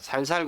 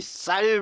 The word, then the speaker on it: 쌀: 예, 제가 살살 그러면 우리 저쪽 경상도 사람들은 이 쌀 발음이 잘 안 되죠. 그래서 이 쌀, 살 이게 참 학교에서 예, 발음 훈련을 많이 했던 것 같은데 요즘에는 그래도 쌀 제대로 나오죠.